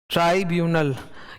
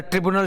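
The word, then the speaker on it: tribunal: ठीक है, इसका प्रोनाउंसिएशन ना तुम लोग कहीं लिख लो ऐसे। ट्राइब्यूनल, क्योंकि अक्सर क्या होता है वो भूल भूल निकल जाता है, ट्रिब्यूनल ट्रिब्यूनल ट्रिब्यूनल, तो वो गलत है। It's pronounced as ट्राइब्यूनल। ठीक है, नाउ अंदर मैंने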